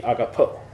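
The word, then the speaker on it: ἀγαπάω: verb for that is agapao. Agapao is the lexical form, that's how we would say it, but when you're actually speaking it, the pronounced version would be agapo.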